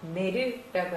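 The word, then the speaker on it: 寝る: 뭐라고 읽어요? 그렇죠? 내르라고 하죠.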